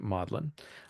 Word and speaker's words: Magdalen: or a Dawn at modlin College uh it's spelled Magdalene but they pronounce it modlin a tutor takes students